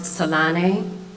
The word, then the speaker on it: Tislane: My name is Tislane, pronounced Salane, in its native language of Africa, native to the Bantu tribe and people of South Africa.